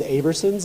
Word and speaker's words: Aberson's: And I do want to say Aberson's, it's pronounced a lot of different ways in Harrison, but it is Aberson's, and I wanted to